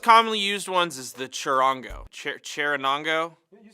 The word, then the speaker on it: charango: One of the most commonly used ones is the charango.